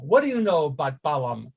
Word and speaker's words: Balaam: do you know about balaam or bilaam if it's going to be pronounced correctly but i call him balam because i always have um what do